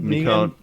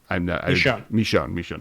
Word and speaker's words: Michonne: Never gonna pronounce this. Mikon Jones. Joe has Mikon. Michonne.